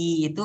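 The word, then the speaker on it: いい: Terus kalau mamanya yang nomor 5 i itu bacanya kayak 2 kali gitu i.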